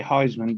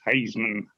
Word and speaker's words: Haisman: yeah some people say some people say Heisman but it's not Heisman it's hazman h that all sounds